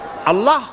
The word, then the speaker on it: আল্লাহ: আমি অনেকবার আপনাদেরকে এই কথাটা বলেছি বোধয় নিশ্চয়ই মনে আছে আল্লাহ এই উচ্চারণটা আমাদের অনেকের হয় না কেউ বলে না